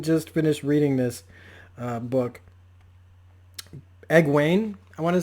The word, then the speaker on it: Egwene: Egwene, I want to say is how you say